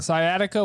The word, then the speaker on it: sciatica: sitting on their wallet that's a soft C for sure sciatica one of my favorite